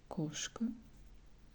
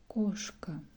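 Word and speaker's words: кошка: You see that the word koshka has O, and this letter is stressed, so we pronounce it more strong way than A. It will be koshka, koshka.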